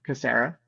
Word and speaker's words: Kassirer: so my last name is pronounced well we pronounce it cassera um you know uh and the phrase K